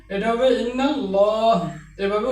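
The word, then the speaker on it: إن الله: যেমন ইন্নাল্লাহা। আল্লাহ শব্দের আগে জবর রয়েছে। এ আল্লাহ শব্দের লামকে মোটা করে উচ্চারণ করতে হবে। ইন্নাল্লাহা। এটা লা হবে না। এটা হবে ইন্নাল্লাহা।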